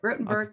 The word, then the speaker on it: Rotenberg: center this judge wrote i'm going to say it wrong again judge rotenberg center did i say it right rottenberg yeah yeah yeah rotenberg is right yeah but uh rotenberg